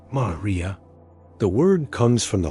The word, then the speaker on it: maria: Vast ancient lava seas called Maria, pronounced Maria.